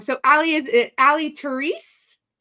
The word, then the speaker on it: Terese: say it wrong so Ally is it Ali theres theres awesome awesome so tell us about your new